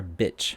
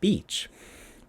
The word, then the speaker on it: beach: And the difference between pronunciation between beach and bitch is just that, is the vowel sound there after the B.